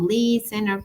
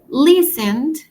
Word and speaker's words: listen: Listen al momento de pronunciarlo va la acentuación va al inicio. Yo no digo len, sino listen.